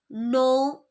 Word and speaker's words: know: Then the letter K is silent when it comes before N at the beginning of a word. For example, knife, know, knowledge. Then the letter N is